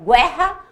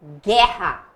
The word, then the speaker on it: guerra: Agora, considerando os dígrafos, a gente tem o G e o U, porque o U eu não pronuncio.